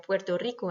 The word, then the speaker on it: Puerto Rico: C'est le cas donc de l'Espagne, comme je vous le disais, la République dominicaine, le Porto Rico, qui se dit d'ailleurs Puerto Rico, attention en espagnol, le Pérou et Cuba.